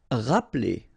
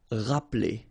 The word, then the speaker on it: rappeler: Rappeler. Okay, remember, this E here is not really pronounced. Rappeler.